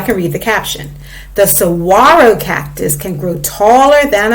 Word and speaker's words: saguaro: up here how to pronounce it so it's pronounced sawaro so it's a saguaro cactus so now i can read the caption the saguaro cactus can grow taller than a house and